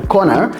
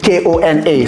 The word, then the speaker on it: Kona: So and even in the way we spell out the corner, it's like Kona. So it's not corner like in English, but it's corner.